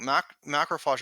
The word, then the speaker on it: macrophage: I saw on your website something called, and I probably will not pronounce it right the first time, macrophage?